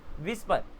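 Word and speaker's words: whisper: विस्पर, H silent है, डब्ल्यू आ गया।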